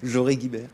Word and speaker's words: Joré-Guibert: et Joré-Guibert, c'est comme ça qu'on prononce, Joré-Guibert.